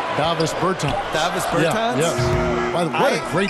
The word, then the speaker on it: Davis Bertāns: Oh, well, now, at this point in my life, it's Davis Bertāns. Is that how you say his name? Davis Bertāns. Davis Bertāns?